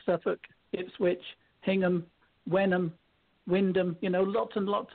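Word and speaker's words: Wymondham: ND h IM yeah the place name is actually spelled y mundum which is wy m om d h i am and that is a place in Norfolk called Windham even though it's spelt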